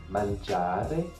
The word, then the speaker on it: mangiare: Donc si vous prenez le mot manger en italien, mangiare, vous avez une accentuation. La deuxième syllabe est plus forte, già, mangiare.